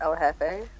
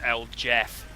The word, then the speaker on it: El Jefe: 2002 Triple X El Jefe. I think I'm saying that right. Yep. Well, you know you're saying it right because you're not pronouncing a Mexican dude's name as El Jeff.